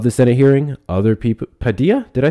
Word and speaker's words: Padilla: It's a soft D.